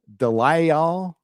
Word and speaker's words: DeLisle: As it's pronounced Gray Delisle or VA Gray Delici. I don't know. You're asking me to pronounce something? It's Delisle.